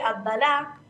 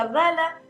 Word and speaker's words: Abdala: En el predictivo del celular o de la compu sale Abdalá, con acento en la A, pero bueno, Abdala, como me gusta decir, ¿no?